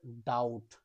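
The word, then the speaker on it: doubt: next B এর পরে টি রয়েছে এর উচ্চারণ হবে ডাউট বি এর উচ্চারণ হবে না নেক্সট বি এর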